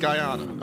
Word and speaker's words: Guyana: a real location i'll send you so it's pronounced guyana okay i was i was close but uh